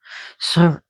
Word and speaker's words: Surt: Surt, if you can roll your R's, that's great. Surt.